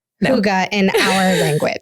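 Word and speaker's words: hygge: to say it correctly we looked up the pronunciation and she has it in her book but it's Huga so it's a Danish word if any of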